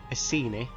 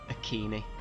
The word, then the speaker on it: Iceni: with a soft sea a ceni or the latin way with a hard c a kini however nobody knows how